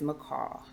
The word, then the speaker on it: Miccau: My name is MCL. M I C C A. You might remember it. It's like the bird, but it's spelled different.